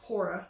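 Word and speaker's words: PWORA: So what this group is doing, they're calling themselves PORA, P-W-O-R-A, but the W is silent, is to not allow them to resort to such extreme closures, right?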